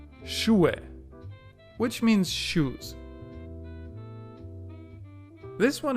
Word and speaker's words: Schuhe: When it's in the middle or at the end of a word, you don't pronounce it at all. Schuhe, which means shoes.